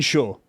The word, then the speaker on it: Chaud: And then there's, I've been calling him Chad because that's what all my friends were calling him. But that name is pronounced chaud because that's the French word for hot.